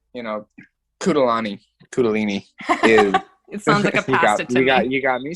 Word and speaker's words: kundalini: to talk about and i always mispronounce it what is it the kudelini kudolani method kundalini yes the kudolini method of